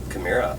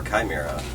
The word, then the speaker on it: Chimaira: Hi, I'm Rob, and we play in Chimaira. And Sean's over here. Hi, I'm Sean. And you are? Denise. Hello. Hi. So wait, to start off, please pronounce your band name. Chimaira or Chimaira, whichever you prefer, tomato.